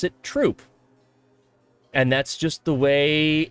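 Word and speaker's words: Throop: of Scranton that is spelled t h r o o p we pronounce it troop we don't pronounce it througho we pronounce it troop and that's just the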